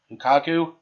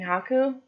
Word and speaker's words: Haku: And they turned back because, what was it, Lukaku? You mean Haku? Haku. Sorry, folks, for the pronunciation.